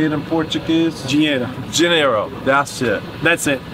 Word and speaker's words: dinheiro: Dinheiro.